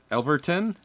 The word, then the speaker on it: Yelverton: the lady's name is Tiffany Elise Elverton, and it's spelled Yelverton.